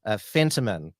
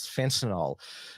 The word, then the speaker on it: Fentiman: So he's put his hand up, Stephen Miles, and also the Minister for Health and Minister for Women, Shannon Fentiman. I almost mispronounced her name as fentanyl.